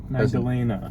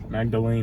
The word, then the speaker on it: Magdalena: Oh, this is how to pronounce Magdalina. Magdalena. Magdalena. Magdalena.